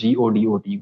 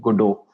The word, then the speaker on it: Godot: There's a game engine called Godot, Godot. That's how they pronounce it.